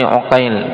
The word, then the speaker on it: Uqail: Qala wafaqatil asmaqon waktalafil abau nutqan mailafiha khatan ka Muhammad ibni aqil bifathil ain wa muhammad ibni uqail bidammihab ini sekarang kasus lain